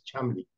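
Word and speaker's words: Cholmondeley: Okay, it's like Cholmondele in the Durrell series, and his name was Chumley.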